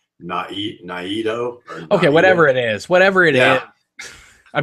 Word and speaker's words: Naido: And some people are saying that's not the correct pronunciation of Nido. It should be Naido.